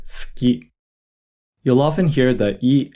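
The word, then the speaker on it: すき: Notice how we don't really pronounce the u sound when we say suki.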